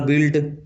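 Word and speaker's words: built: उसी प्रकार बिल्ट बिल्ट का भी स्पेलिंग इस प्रकार से होता है किंतु पढ़ा इस प्रकार से जाता है।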